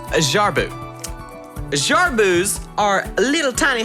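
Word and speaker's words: jerboa: through so it counts oh yeah it's the jaboa what no it's not a boa it's actually pronounced as jar boo jar booze are little tiny hopping rod ants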